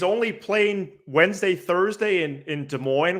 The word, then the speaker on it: Des Moines: he's only playing Wednesday, Thursday in Des Moines, where the S's are silent, and then he's going to Pittsburgh, and you could pronounce the S's in that one.